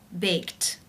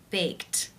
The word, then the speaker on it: baked: sound its unvoiced therefore the ed is pronounced unvoiced with the T sound baked baked how do you pronounce